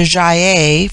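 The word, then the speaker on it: Gy: The word for woman is Gi, pronounced hard as in Guy. It forms itself into Jaye for the plural, but the G becomes soft in the plural, like JY-EI.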